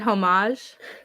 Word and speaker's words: homage: Now you pronounced it homage.